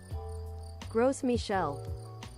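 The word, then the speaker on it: Gros Michel: Wait, let me see how you pronounce. Gross Michel.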